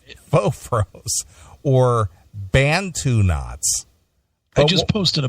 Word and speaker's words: Bantu: She put her hair in what they call you pronounce this. I don't want Doghouse to give me a hard time. It's Bantu.